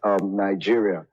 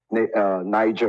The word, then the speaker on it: Niger: If you focus on the British side, you would pronounce it as Niger River. If you pronounce it properly, it will be Niger. Niger.